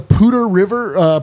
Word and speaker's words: Poudre: I'll tell you, the Pooter River permeated my entire childhood, and if you weren't from Fort Collins, you thought it was spelled like Pooter.